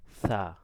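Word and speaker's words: ث: তারপর আমরা শিখেছি সা, সাটা কি হবে? নরম হবে, জিহ্বার আগা এবং সামনের দুই দাঁতের আগা লাগবে, সা, বাতাস বের হবে কিন্তু শব্দ হবে না, ঠিক আছে?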